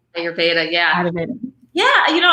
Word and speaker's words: Ayurveda: Am I pronouncing that Ayurveda? Ayurveda, yeah.